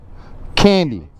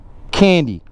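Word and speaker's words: Kandi: Candy. Candy. Sweet like candy, sexy like a stripper. Because it's spelled K-A-N-D-I.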